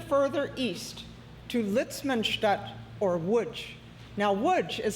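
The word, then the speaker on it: Łódź: Next, to their dismay, they were sent even further east to Litzmanut or Wuj. Now, wood is spelled L O D Z.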